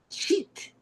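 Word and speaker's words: sheet: Y yo dije algo, ah, para aclarar la palabra e de hoja de papel se pronuncia sheit, que tiene s h e e t, ¿verdad?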